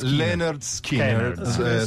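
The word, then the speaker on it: Lynyrd Skynyrd: macchine alle quale parli allora linard skiner che si pronuncia Leonard Skinner Skinner Ok così arriva dal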